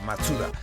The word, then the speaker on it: Mazda: la luz además que en japonés la palabra Mazda se pronuncia matsuda Así que el nombre